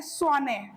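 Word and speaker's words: Tshwane: name आपको जानना है स्वाने अगर हम बोले तो टी जो है इसमें साइलेंट है टी एस एच डब्लू ए एन E okay सरे ओके तो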